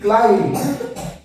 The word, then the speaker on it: climb: না বম ঠিক আছে সেইম ভাবে সি এল আই এন বি ক্লাইম্ব এখানেও বি এর উচ্চারণ হবে না আমরা কি বলবো ক্লাইম্ব